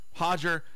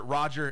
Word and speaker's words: Roger Gracie: Hodger. And he's actually pronounced it Roger in, for the United States.